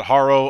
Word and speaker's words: Harrow: 60 40 split of people who call it hero instead of Haro so you're definitely not alone I guess I